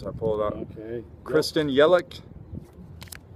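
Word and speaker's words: Yelich: see the names I pulled out okay Kristen yelik says that's how it's pronounced Yadier Molina celebration huh met celebration what's up uh nevamo 11 15.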